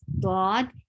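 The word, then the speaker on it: ض: now i'm explaining so how to say this thought it is pronounced by back sides of the tongue um touching the upper touching the upper side gums back side of the back sides of the tongue then they touch the upper sides of the gum then the dot is pronounced very well so the first thing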